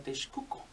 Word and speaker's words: Texcoco: Entonces dice, bueno, pues me voy a poner mi imperio en Texcoco, donde cabe aclarar que se pronuncia Texcoco.